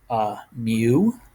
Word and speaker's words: mu: It's called mu. All right, like Mew from Pokemon. Come on, it's not spelled the same. It's spelled M-U. That's how you spell mu, at least the Greek letter mu.